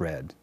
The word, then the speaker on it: Wred: west uncork adventure and remember the w is silent anyway always a good